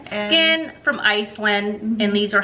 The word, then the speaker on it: SKYN: So it's I don't know how you pronounce it. It's SKYN. So skin. Okay. I think it's just skin. Skin from Iceland, and these are hydrocoal firming eye gels.